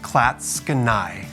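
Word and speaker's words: Clatskanie: town of classical oregon and yes it is pronounced klatskanai we have a population right around 1600 people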